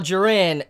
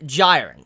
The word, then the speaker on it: Jiren: I go any further I made a mistake going I call jiren gyen so I just want